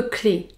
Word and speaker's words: clé: c'est le trousseau de clés un trousseau de clés pour prononcer le mot clé vous devait prononcer un